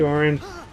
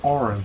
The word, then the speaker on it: Auron: Hey, Auron. Auron! What are you doing here? What are you talking? It's pronounced Auron, but my brother always said AURON. No, I always say Auron.